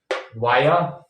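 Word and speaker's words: via: घाटी इसको बोल देते हैं ली है ना वाया वाया थ्रू जो होता है तो उसको भाया बना देते हैं वाया को भाया बना देते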